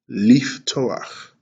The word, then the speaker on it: לפתוח: L, e, f, t, o, a, k, leaf, toach. Now, the last slide here, we're going to break down the syllables in to open. And those syllables are as such. Leaf, leaf, toe, and ak.